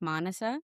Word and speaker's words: Maanasa: If you're a non-Indian person, you can remember my name like Vanessa with the M at the start, but it's pronounced Manasa.